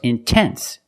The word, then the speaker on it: intense: stressed syllable after NT then you have to pronounce the T example intense I put the stress after the N so I have to pronounce a t I cannot say in no it's intense or words like intensive